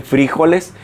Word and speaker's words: frijoles: En Colombia es raro porque le dicen frijoles, le ponen acento en la I.